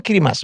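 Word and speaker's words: Kiritimati: Kalau Kirimati itu Kirimas bacanya. Di mana tuh Kirimati?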